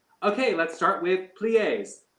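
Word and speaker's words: plié: okay let's start with plies how do you say plies and she said plie and i say ah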